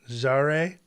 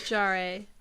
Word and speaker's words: Jarre: Jarre?